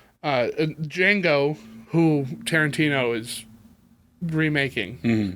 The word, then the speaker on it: Django: D, and he says the D is silent, and he says, "I know."